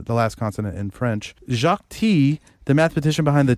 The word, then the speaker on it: Jacques Tits: uh i love your work his name was jacques teats jacques t you don't you know i guess you don't pronounce the consonant in uh the last consonant in french jacques t the mathematician behind the t building the t